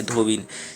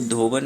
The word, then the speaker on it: धोबिन: स्त्रीलिंग हो जाता है धोबिन। तो यहाँ पे जो है मात्रा का भी है और लिंग का भी आप कह सकते हो एरर है। तो यहाँ पे धोबन नहीं होता है, धोबिन होता है, ठीक है।